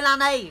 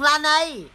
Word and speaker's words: Laneige: Đây là mặt nạ ngủ môi Laneige của Hàn Quốc.